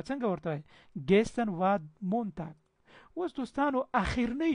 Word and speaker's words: gestern: gestern. gestern. gestern یعنې تېرې ورځ ته چی وایي؟ gestern. د ار ډېر کم تلفظ کېږي. gestern. بعضې gestern وایي. هسې صحیح نه تلفظ کېږي. د ار به ډېر کمزوری.